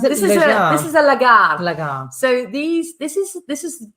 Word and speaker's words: lagar: Okay, so this is how do you pronounce it? This is a lagar.